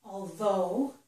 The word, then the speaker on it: although: Here, the GH was silent. So here, this word is although.